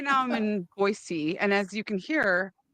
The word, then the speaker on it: Boise: and people are like, "It's not Boise, it's Boise," and I'm like, "Okay, cool. Like, not a big deal, right?" But now I'm that way where people say it wrong, and I'm like, no, it's Boise.